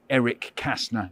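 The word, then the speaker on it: Erich Kästner: a German writer called Erich Kessner so it's quite hard to say you can say Eric Kastner if you prefer so in German it's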